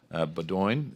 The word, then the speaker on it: Beaudoin: Beaudoin. Is that the right pronunciation? It's Beaudoin, but anything works.